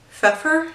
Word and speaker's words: Pfeffer: we knew it by Susan Pfeffer I think is how you pronounce it so this book is